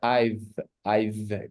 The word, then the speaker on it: I've: Esa contracción se pronuncia I've, como si fueran a decir una B y una F. I've. O una F también.